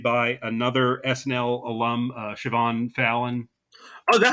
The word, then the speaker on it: Siobhan: It's it's that uh it's that uh Scottish name where it's spelled uh S I B Hen, but it's it's pronounced uh Siobhan. I mean, I'm sure people will be like, "Oh, is it a cibohan?"